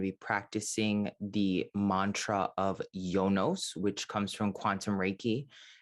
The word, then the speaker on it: Yonos: be doing the mantra yonos it's pronounced y-o-n-o-s but you can also think of it as y-u-n-u-s jonas if you want to pronounce it jonos instead of yonos one